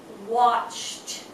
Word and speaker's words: watched: sound that means that when you pronounce it the Ed D you pronounce it as a T for example watched watch say watch watch